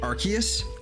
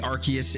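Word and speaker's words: Arceus: so so technically speaking I think it is archus but arus has also been said not arus but arus has definitely been said before in the anime I think uh but I think technically archus is the correct official pronunciation but I I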